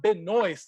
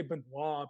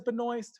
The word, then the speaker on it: Benoist: she wanted to say Benoit Benoit and they pronounce the T you would think the T is silent but if she says Benoist Who am I to